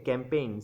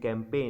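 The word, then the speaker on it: campaign: এলো ও buffalo okay ক্যাম্পেইন সি এম পি এ আই জি এন ক্যাম্পেইন এখানে জি এর উচ্চারণটা সাইলেন্ট কিন্তু এখানে জি এর উচ্চারণটা সাইলেন্ট রয়েছে তো ক্যাম্পেইন রয়েছে সি এম পি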